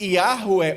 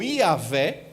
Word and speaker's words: Javé: Então, a maioria das pessoas costumam pronunciar, como eu estou falando aqui, Yahué ou Iavé. Outras pessoas costumam chamar Javé, e ainda existem pessoas que chamam Jeová, né, transliterando aí do hebraico passa pela língua alemã e chega na língua portuguesa.